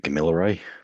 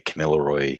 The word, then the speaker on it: Gamilaroi: It's um our language group is the Gamilaroi language group, which is where Kamilaroi, Gamilaroi, all those phonetic um pronunciations actually comes from.